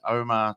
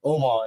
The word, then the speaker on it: Omar: my o so I I don't pronounce my name the Arab way oh really go what the dude you can't pronounce Omar it's supposed to be